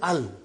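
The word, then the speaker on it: ال: Every time you will see Al, you will read it Al, without vowel signs.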